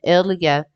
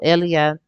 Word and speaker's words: ella: But I got the Cinderella download at 1117, the etymology of it, and Elia, because if you put Ella in Espanol, Elia, because the two L's are pronounced as Y's, so it's actually it's